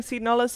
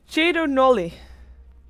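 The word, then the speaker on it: Cedo Nulli: By the way, apparently we're supposed to be pronouncing Seed Nullus as Chedo Nolly.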